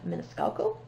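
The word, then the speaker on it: Maniscalco: and i believe that the last name is pronounced miniscalco carrie mescalco she's always really popular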